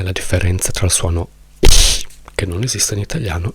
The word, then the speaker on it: ich: Quando io ho studiato tedesco a scuola, io ero l'unico nella mia classe che faceva lo sforzo di pronunciare ich, perché tutti invece pronunciavano, tutti quelli che studiano il tedesco e non vogliono impegnarsi pronunciano questo ich come sh.